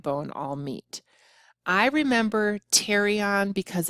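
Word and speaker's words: pterion: the right and left teron this the p is silent that is the junction where the parietal the temporals and the sphenoid bone all meet I remember terion because it's near our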